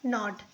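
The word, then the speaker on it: knot: मतलब होता है चाकू के एन ओ टी नॉट देखिए सब में के साइलेंट है ठीक है इसको आप ध्यान दीजिए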